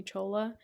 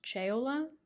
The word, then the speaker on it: Chola: everyone calls me Chola it doesn't look like it would be pronounced that way um technically it's actually not in Italian it's chaola but my family was lazy and dropped a syllable when they immigrated here from Italy um so just call